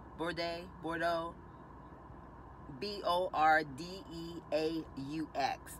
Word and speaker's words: Bordeaux: the color is number nine and it is pronounced Bordeaux board a Bordeaux Bo AR de a UX it's the name